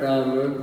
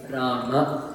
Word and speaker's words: Rama: It's not Rama, but it's Rama, Krishna, Partha, right? So make sure that you're saying the whole thing.